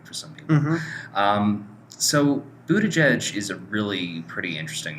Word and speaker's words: Buttigieg: So this week we're going to be talking about Pete Buttigieg. I think I'm finally pronouncing that right. Yes. So Buttigieg, the reason we're talking about him, for anyone